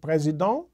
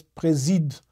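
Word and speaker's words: président: pronounced as I said presid but it can also be a verb in which case it's pronounced as presed the ENT is silent and it corresponds to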